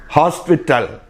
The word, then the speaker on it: hospital: There H is sounded. Hospital.